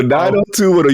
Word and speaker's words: 90210: So 90210, you just say it by the numbers.